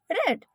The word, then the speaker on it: read: दूसरा sentence like किताब पढ़ी जानी चाहिए, the book should be रेड, the book should be रेड। रीड की सेकेंड फॉर्म रेड और थर्ड फॉर्म भी रेड। स्पेलिंग सेम रहेगी, केवल प्रोनाउंसिएशन चेंज होता है, ध्यान रखना।